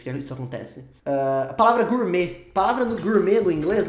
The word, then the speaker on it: gourmet: isso acontece a palavra Gourmet palavra no Gourmet no inglês a gente fala assim né Gourmet só que a gente não fala Gourmet a gente fala Gourmet sem o som do t no final é mais ou menos